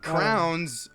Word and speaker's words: crayon: utensils those are called crayons crayons aren't well they can't be writing they're typically more for coloring have you no I've said some people pronounce it Crown seriously have you never